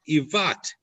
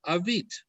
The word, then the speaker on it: Avit: the book of Chronicles it is written as if it is to be pronounced Ivat, even though it is still read Avit.